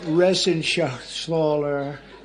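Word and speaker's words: Reschenthaler: And Guy Resenshaw. You know that Resenshaw. It's that's actually the way you pronounce it.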